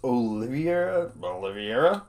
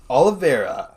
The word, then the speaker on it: Oliveira: Kevin Lee versus Charles Oliveira. Oliveira. Horribly mispronounced that one.